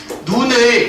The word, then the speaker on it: 눈: 예를 들면 이런 거지 눈을 길게 발음하는 눈이 있고 짧게 발음하는 눈이 있지 눈 눈 이렇게 되겠지 길게 발음하는 눈은 하늘에서 내리는 어제 새벽에 내렸던게이 길게 발음하는 눈이라고 볼 수 있고 짧게 발음하는 눈은 여러분들 신체 기관의 눈이라고 할 수가 있는 겁니다 그러니까 얘랑 얘랑 구분하기